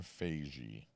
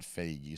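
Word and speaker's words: Feige: saying something that's not Fagy. So, I say fagy. But it sounds like beige, right? Is it just Kevin Fige? It rhymes with beige.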